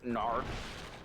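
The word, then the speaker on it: Gnarfe: do you want to know how I spelt Gnarf? G-N-A-R-F-E. Yeah. Because the G is silent and all gnomes have a G.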